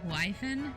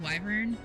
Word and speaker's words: wyvern: because the other day I heard someone say wyen instead of wyvern. Oh, I so there's I depending on the like the setting. I pronounce that word one of they've got this one of like three different ways. Um, I usually go Wyvern, but also Wyvern Wyvern and Wyvern are two ways I've heard.